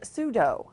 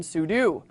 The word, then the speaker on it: sudo: He pronounced sudo as sudo, similar to the martial art of judo rather than sudo.